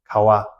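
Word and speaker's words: ཀ་བ: So even though pa individually is pronounced as pa, when it's combined with the words and it's at the end of that word, it's pronounced as wa. Kawa, kawa, our lips won't touch.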